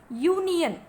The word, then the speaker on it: union: So here, that's why this, though it is written, though the word is beginning with the letter U, it is pronounced like this, union.